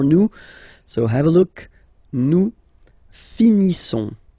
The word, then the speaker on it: finissons: Nous finissons. Okay, I-S-S-O-N-S. Issons. Nous finissons. Finissons. Okay, final S, not pronounced.